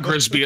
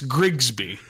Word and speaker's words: Grigsby: So it's not Grisby, it's Grigsby.